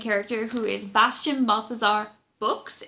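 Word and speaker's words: Bux: who is Bastian Balthazar books it's Bo X but it is pronounced books hitting you over the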